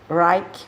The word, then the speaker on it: Reich: Nós podemos encontrar, por exemplo, o psicanalista dissidente de Freud, Reich, ou Reich, como alguns gostam de pronunciar, que fez várias pesquisas